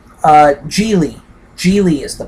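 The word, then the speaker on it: Gigli: hope I am uh giggly jiggly odd jiggly I think is the the correct pronunciation uh Julie Julie is the correct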